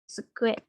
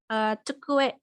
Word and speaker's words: tsukue: Benar, ini tsukue. Tsukue. Artinya meja. Meja ya. Tsukue. Oh ya, mungkin beberapa mungkin ada yang mengucapkan ini cu, bukan tsu. Jadinya kayak contohnya ya, cukue, cukue.